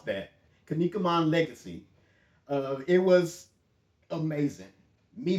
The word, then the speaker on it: Kinnikuman: This is Ultimate Muscle, the Kinnikunan Legacy. I always mispronounce that. Kinnikuman Legacy.